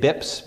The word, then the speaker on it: bps: and sometimes it's it's abbreviated bips BPS and pronounce bips one bip you can